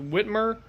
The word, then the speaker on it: Whitmer: And if you've seen the national news lately, there is a 77-year-old barber who basically refused Governor, I believe it's pronounced Whitmer, her lockdown order because basically he's got bills to pay.